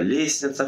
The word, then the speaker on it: лестница: и проверять словом солнышко это слово лестница в котором нужно писать букву т я за слово чувства